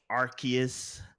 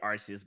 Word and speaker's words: Arceus: for the international crowd they didn't like the idea of people saying arse for you know for the obvious reasons so they they went